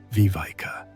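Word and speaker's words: viveka: The ancient texts describe this as developing vivika, pronounced vivika, discriminating wisdom that can distinguish between what serves our highest good and what merely serves our conditioning.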